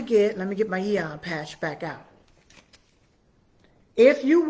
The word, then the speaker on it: Aeon: But that's what I love about the Eon patches. All right? It's spelled A-E-O-N.